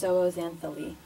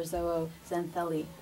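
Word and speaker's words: zooxanthellae: photosynthetic microalgae that are known as zoazanthali or Zoho xantheli depending on how you want to pronounce it so each of these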